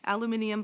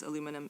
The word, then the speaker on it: aluminium: Aluminium, by the way, is the preferred name in uh or name and pronunciation in British Commonwealth English. It's the same thing as aluminum in American English.